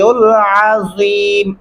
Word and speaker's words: العظيم: حفظہما وَهُوَ الْعَلِيُّ الْعَظِيمُ. عین گلے سے ادا کرنا ہوگا. وَهُوَ الْعَلِيُّ الْعَظِيمُ، الف نہیں پڑھنا، عین.